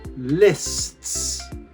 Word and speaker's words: lists: Now, how is this pronounced? Lists. Can you hear? I go from st So the tongue sits behind the teeth in the s, and then it hits the back of the teeth.